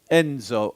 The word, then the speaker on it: Enzo: very much as he heard my name is Enzo of course my birth certificate says Vincenzo so